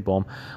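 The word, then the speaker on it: poem: Okay, there is अ पोम known as, इसको पोम ही कहते हैं, पहले मैं पोयम पढ़ता था लेकिन हम मोस्टली पोएम ही पढ़ते हैं, लेकिन इसका सही प्रोनाउंसिएशन है पोम।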